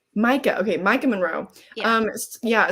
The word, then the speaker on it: Micah: though because Elise you said how did you pronounce it it's Micah Micah okay Micah Monroe um yeah so it stars